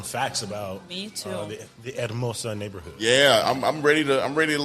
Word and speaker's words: Hermosa: The thing is, I know the H is silent. That's all I know now. Hermosa. Yeah, you got to roll your R.